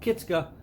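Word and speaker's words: kistka: And we need some beeswax, a candle, and one of these nifty little tools called a kitska, which I also call kitska because that's how my family always pronounced it.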